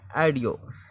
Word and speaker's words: AUDIO: 8 number देखें AU का उच्चारण आ की ध्वनि में। जैसे हम लिखते हैं ऑडियो, AUDIO ऑडियो जिसका मतलब होता है सुना जाना।